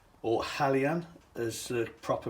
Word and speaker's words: Hejan: these boc wagons now these are from uh helgen or halyan as the proper pronunciation should be i've been told now these